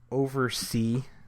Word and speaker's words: OvRC: this new cloud service called Oversee, which is really, really, it's spelled with just the OVRC, which is really kind of difficult to figure out if you're just kind of staring at it.